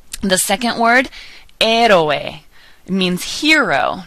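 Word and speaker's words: héroe: amaka the second word er means hero notice that we're not pronouncing the H ER ospital Hospital hisor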